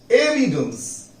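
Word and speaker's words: evidence: Okay, next word है हमारे पास एविडेंस। एविडेंस, एविडेंस, ए पर जोड़ लगाई।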